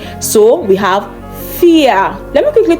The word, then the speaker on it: vier: Now we have R in this word, but it is not pronounced vier.